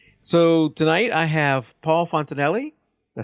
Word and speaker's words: Fontanelli: So tonight I have Paul Fontanelli.